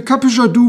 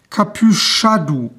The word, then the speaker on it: Capuchadou: the spelling used here it comes with a CH so the proper pronunciation is probably kadu the name is a